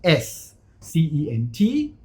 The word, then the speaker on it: cent: If I have an E after C, for example, C-E-N-T, the C will be pronounced as an S. C-E-N-T, the ears, scent.